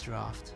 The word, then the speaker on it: draught: The sweeter faith still is the draught called love. I think it's... Oh, yeah, I think you pronounce it as draft.